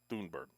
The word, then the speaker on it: Thunberg: all right um sunburg thunberg they're telling me that the proper pronunciation is doonberg so i'll call her